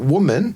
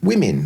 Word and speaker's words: women: Or women. But even though it's spelled with an O. Like, not woman, women.